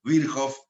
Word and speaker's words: Virchow: Virchow, para los que recién arrancan, Virchow es la pronunciación correcta.